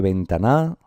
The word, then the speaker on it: ventana: ¿Se dice ventana? No. Se dice ventana. Por tanto, estamos en una palabra que tiene el acento o la sílaba tónica en la penúltima sílaba.